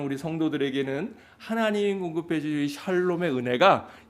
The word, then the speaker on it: 샬롬: 네, 좀 전에 쌍놈 이렇게 얘기한 건 아니죠? 네. 샬롬이라 그랬어요? 네. 이 발음을 잘해야 돼요. 잘못하면 욕이 되기 때문에.